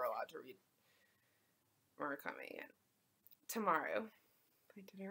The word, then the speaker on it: Tamaru: Tamaru.